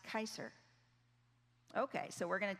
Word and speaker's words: Kaiser: Q-S-R, pronounced Kaiser.